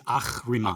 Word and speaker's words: Ahriman: Yeah, it's Ahriman. Ahriman, thank you. Or like a cat hiss.